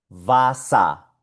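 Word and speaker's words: Wasser: Y esto acá se pronuncia Vasa, Vasa. Suena solo como A.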